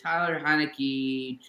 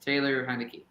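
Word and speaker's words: Taylor Heinicke: play a lot better there's a stat here Tyler heinecke I'm gonna look it up but this guy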